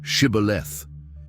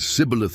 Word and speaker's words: Shibboleth: They asked them to pronounce the word Shibboleth. The Ephraimites, who could not pronounce the sh sound, said Sibboleth instead and were executed.